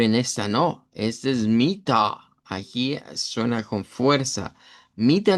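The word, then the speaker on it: Mitter: Que sería m i doble t e r, vamos a pronunciarla como mita con una a centralizada, mita y note que esa a es más grave, no suena como esa de marina, que marina ahí como si supiera el a en el isva.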